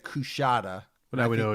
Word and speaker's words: Coushatta: It's pronounced Coushatta.